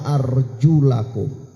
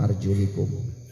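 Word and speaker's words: أرجلكم: wamsahu bi ru'usikum wa arjulakum ilal ka'bain. Dan ini bacaan yang tepat ya. Meskipun Ibnu Abbas membacanya wa arjulikum.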